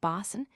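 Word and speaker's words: boatswain: the French bosamin or the English bosen pronounced bosan it denotes a master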